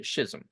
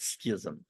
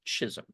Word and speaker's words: schism: the uh Schism and that's how you say it by the way Schism not Schism I learned that from Rush limba's uh sponsor verbal Advantage it's Schism anyway the Schism between